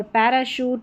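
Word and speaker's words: parachute: यहां पर पैराशूट, champagne और यह है शेफ। तो इन सारे स्पेलिंग्स में सी एच को श पढ़ा जा रहा है।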